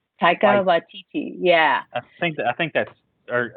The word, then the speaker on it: Waititi: Taika Waititi. Yeah. I think that's, or I might be pronouncing his first name wrong, but I think it's Waititi. It is.